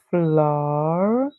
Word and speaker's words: Florida: Then we have the small word rid, like when you get rid of something, and Read all together, Florida, and Florida.